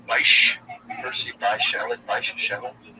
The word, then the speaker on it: Bysshe: Bysshe.